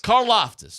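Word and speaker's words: Karlaftis: Caroftus.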